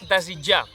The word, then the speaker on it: desitjar: Aquí apareix el verb desitjar que potser et costi pronunciar una mica pel so de la T i la J.